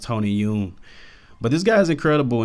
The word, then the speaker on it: Tony Dong: I may actually like to see him compared to a guy like Tony Dong, who was actually pronounced Tony Yoon.